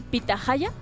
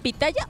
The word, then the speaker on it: pitahaya: llama esta es la pitahaya la pronuncia bien no es pitaya o pitajaya te voy a confesar